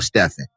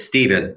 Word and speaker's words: Steven: Do you say it Steven or Stephen? So Steph Curry went and he ruined it for all of us, but it's Steven, the way that I pronounce it. That's the way my father pronounced it, Steven.